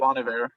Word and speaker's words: Bon Iver: I never know how to pronounce it. Bon Iver.